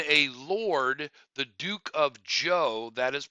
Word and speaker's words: Zhou: Again, that is pronounced Zhou in English.